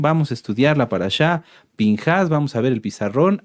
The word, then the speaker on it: Pinjás: significa boca de serpiente se puede leer ahorita se los voy a mostrar como pinjas también pero la pronunciación en cuanto a fonética sería pinjas este esta esta parashá